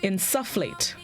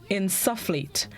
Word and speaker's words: insufflate: and this morning's word of the day is insufflate insufflate i n Su FF l a t e insufflate it can also be pronounced inserate it's a verb which means to